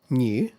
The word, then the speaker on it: new: So British English the pronunciation usually includes yuyu sound. In American English however that sound is not really there.